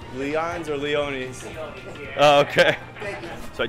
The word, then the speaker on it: Leone's: Is it pronounced Leon's or Leone's? Leone's. Oh, okay. So I just had a funny exchange with one of the guys that works over here. It's actually Leone's. I was saying it wrong, so that's a little embarrassing.